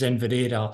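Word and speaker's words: Inveraray: saying inad for so long but and the pronunciation that's most closest to the GAC um is in Vera so I need to keep reminding myself to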